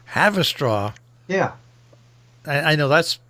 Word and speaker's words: Haverstraw: Haverstraw. Have a straw. Yeah. I know that's spelled with that. It's not spelled like have a straw. It's spelled differently. I know. It's Haverstraw.